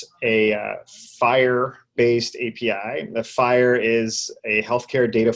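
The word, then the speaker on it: FHIR: oo auth + a fire based API the fire is a health care data format and it's spelled F I H R is that correct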